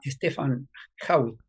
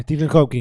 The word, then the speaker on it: Stephen Hawking: Eh, Viste, qué sé yo, no le podemos decir incapaz al científico Stefan Hawking, así se llama, Ujú. así se pronuncia. Stephen Hawking.